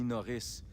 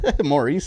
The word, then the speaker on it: Maurice: i arrived in boston people started calling me norris and i got tired of correcting them all the time maurice isn't hard to pronounce i'd been talking with